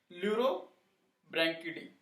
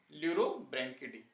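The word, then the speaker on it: Pleurobrachiidae: Okay, family इसका हो गया ल्यूरोब्रैंकिडी। ओके, पी साइलेंट है इसमें, ल्यूरो ब्रैंक की डबल आई डी ए, ल्यूरोब्रैंकिडी।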